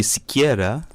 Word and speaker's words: Siqueira: Well, she said it's Brazilian Portuguese, so I'm not quite sure. But it could be Siqueira. I don't know. That's right. She said it right. Yes. I tell you, man. Siqueira.